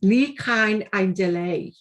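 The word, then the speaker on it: Ni Chawn Ein Dileu: It's Ni Cain Ein Delay.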